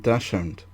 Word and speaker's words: Dachshund: It's Dachshund. It's German. Dachshund. Dachshund. Dachshund. Yeah. Right, so is it both or one or the other? I think it just depends on how you say it, how you want to pronounce it. I think the proper pronunciation is Dachshund.